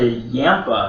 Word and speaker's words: Yampa: might love it so yeah moving on to yampa or yampa which is spelled y-a-m-p-a um this one was a variety